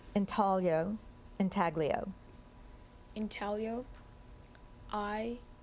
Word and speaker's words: intaglio: Intaglio, are there any alternate pronunciations? Intaglio, intaglio.